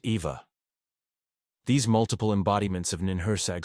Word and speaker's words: Eve: together formed the collective known as Eve pronounced Eva these multiple embodiments of